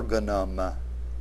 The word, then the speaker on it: organum: is called an or organum organum notice that the word has the accent on the first syllable and its proper plural